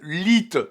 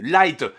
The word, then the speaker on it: Lied: répéter à chaque convention ça se prononce en lit pas en light ça s'écrit l I e d pas l e I d c'est pas compliqué bordel